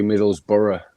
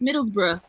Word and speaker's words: Middlesbrough: bros in brother yeah actually middlesborough no that's not how you pronounce it it's middlesbrough exactly it's a [ __